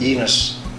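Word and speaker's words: Llenas: Not only has Carlos Lenas been, how do you say that, Lenas or Ilenas? Enos. Enos. I'm wrong. With like a Y, Enos.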